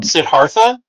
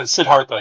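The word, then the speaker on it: Siddhartha: Uh sidartha. Yeah, with a soft uh the soft th sound.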